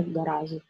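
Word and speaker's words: гараж: We pronounce it with sh, not with z, garage. But we spell it with z.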